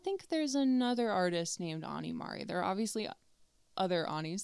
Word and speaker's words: Ani Mari: Politely, just next time somebody says your name wrong, it's actually Ani Mari. People say it wrong so much. I think I'm used to it. At least you didn't say Annie Mary.